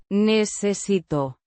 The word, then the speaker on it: necesito: Pronounced Necesito. with a stressed Sí.